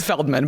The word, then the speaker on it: Feldman: she's unbelievable she wait is it pronounced fieldman or Feldman let's call her fieldman fieldman it's Feldman but I'm going start calling